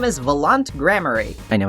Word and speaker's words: Valant: Well, he's here, and his name is Valant Gramarye. I know it's pronounced Valant, but, Valant just sounds cooler to me.